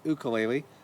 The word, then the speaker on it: ukulele: then got the name ukulele pronounced correctly ukulele apologies to everyone for